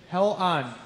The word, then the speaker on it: Hellion: Hell on. You put a little spell it out for me.